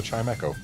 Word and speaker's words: Chimecho: while Umbreon finishes the Chim echo which it took me far too long to realize is Chimecho instead of chime Cho but it is in